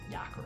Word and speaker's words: Yakra: How do you pronounce his name? It's over here. Yakra. Yeah, Yakra.